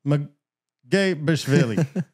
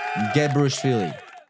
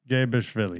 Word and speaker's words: Mgebrishvili: Today, we're proud to present to you international actor Bond Mgebrishvili. Did I butcher that? Yeah, a little bit. Tell the fans what it's really, how do we pronounce this? So, it's Mgebrishvili. Mgebrishvili.